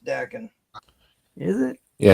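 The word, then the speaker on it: Daken: actually pronounced Dakin.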